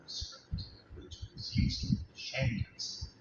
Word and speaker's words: Shang: The symbol you see here is from China's oldest writing system called the Oracle script, which was used in Shang text. It's pronounced Shang.